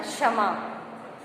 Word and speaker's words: क्षमा: क्षमा के उच्चारण के लिए क्ष का प्रयोग किया जाएगा।